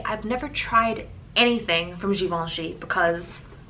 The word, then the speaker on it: Givenchy: Pronounce this one as we well. We got the Givenchy. Givenchy.